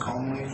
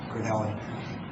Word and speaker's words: Cornelli: I don't know if it's pronounced Conley? Cornelli? Oh, it's an RN. Okay, it looks like an M on here. C-O-R-N-E-L. Okay, Cornelli.